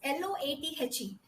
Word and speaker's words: loathe: Okay, and the next word is LOATHE, where you give emphasis to THE, loath. You stress THE.